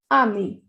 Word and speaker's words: amis: Nous sommes amis. We are friends. If boys are talking about it, so pronunciation will be ami, A-M-I-S. If girls are talking about it, so the spelling will be A-M-I-E-S.